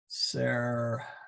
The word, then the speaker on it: servorum: But then if we had plural, servorum, then it shifts. It's still actually in the second. It's actually in the still in the second syllable, but now that syllable is a vo.